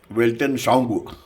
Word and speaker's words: Weltanschauung: इस चैनल का नाम है वेल्टन साउंड। वेल्टन साउंड अंग्रेजी का एक शब्द है। इसका स्पेलिंग है WELTANSCHAUUNG, यानी इसका मतलब है हिंदी में विश्व दृष्टि।